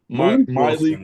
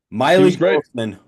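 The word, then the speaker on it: Mylik: performance from JoJo tuger My Le Wilson oh my goodness is it it's my le it's m y l i k Miley he deserves his name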